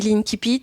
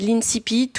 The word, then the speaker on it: incipit: Oui, moi je dis l'inkipit mais sinon c'est l'incipite ou l'incipite pour ceux qui le souhaitent. Je vous laisse choisir la prononciation que vous voulez.